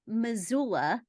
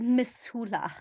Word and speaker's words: Missoula: So the thing about this particular mead is it's from Victor, Montana, which is near Missoula, how it's pronounced, my hometown.